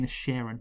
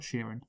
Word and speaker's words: Inisherin: Because The Banshees of Inisherin, and that's how you say it, by the way, Inisherin, not Sheeran.